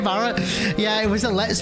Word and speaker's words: Barret: Uh like a beret, like a you know, headband or whatever, but no, I can't, man. It's Barrett. It's got to be Barrett.